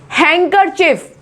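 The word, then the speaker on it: handkerchief: हैंकरचिफ, क्या है यहाँ पर? इसमें हम बोलते हैं हैंकरचिफ, ठीक है, लेकिन इसकी स्पेलिंग में डी यहां पे लगाया जाता है, लेकिन हम हैंकरचिफ बोलते हैं।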